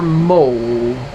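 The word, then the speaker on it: Moll: pellets into the gas chambers was sergeant major mole it's m-o-l-l but it's pronounced m-o-l-d oh the nazi commandant during the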